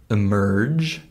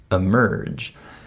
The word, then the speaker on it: emerge: the schw sound and if I say the word emerge right in that word the first uh unstressed syllable is the letter e and that also becomes the same schwas sound emerge and also the word